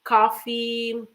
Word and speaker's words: coffee: So, I just want to point out this word coffee because if you don't emphasize, you don't stress the the last syllable, you are going to say like cough. So cough is different than coffee.